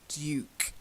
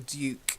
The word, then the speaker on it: Duke: Now, the first one, I'm sure Americans say Duke, but as it's a British honorary title, then I'll give you the British pronunciation. It's Duke, a Duke, Lady and Duke.